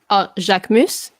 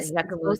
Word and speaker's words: Jacquemus: How do you pronounce it? Jacquemus. I think yeah. that's how you pronounce it. Yeah, Jacquemus.